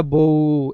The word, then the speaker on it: বউ: আমরা বউ এভাবে বলি না, আমরা বউ, থেমে যাচ্ছি, হ্যাঁ, ওই যে ওয়াকফের বা ব্রেকের জায়গাটা এখানে কাজে দেবে। আমরা বউ এভাবে বলে থেমে যাচ্ছি, এই জন্য আমরা কি